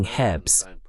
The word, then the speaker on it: herbs: O que, claro, é algo curioso, porque os americanos não pronunciam o H em herbs, enquanto os ingleses pronunciam o H em herbs.